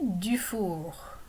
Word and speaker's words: Dufour: And je m'appelle Dufour. Notice I pronounce the R at the end of Dufour.